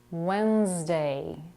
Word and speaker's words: Wednesday: a flap T meter Wednesday there is no D in the first syllable w w day at